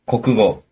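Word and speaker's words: 国語: 자 그럼 일단 과목을 알아야 대답을 하니까 과목의 발음을 배워 보겠습니다 자 일단 구경수 기본이기 때문에 국어 어떻게 되죠 고고 영어는 에고 수학은 수가 그렇죠 고고 에고 스가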